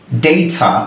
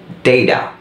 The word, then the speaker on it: data: না, তারা বলবে হচ্ছে ডেইডা। এই ডেইডা এটা হচ্ছে দুইটা ভাওয়েলের মাঝখানে যখন একটা টি সাউন্ড থাকে মানে ট সাউন্ড থাকে তখন এটাকে সফট ডি এর মতো উচ্চারণ করা হয়, বিশেষত আমেরিকান ইংলিশে।